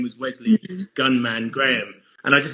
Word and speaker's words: Wesley: But my first name's Wesley, and when I hate when people get it wrong. When people get called Leslie.